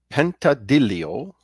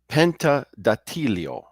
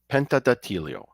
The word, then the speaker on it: Pentedattilo: the haunted town of pentad Deo Penta oh I'm sorry let me pronounce it right Penta datio Penta datio Calabria now this is